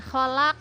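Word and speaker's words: خَلَقْ: Nah, membacanya kholaq, nah, itu bacaan qalqalah kubra ya. Huruf qalqalah itu ada ba, jim, dal, to, dan qaf. Ada 5 ya. Qaf ini termasuk huruf qalqalah, artinya mantul ya.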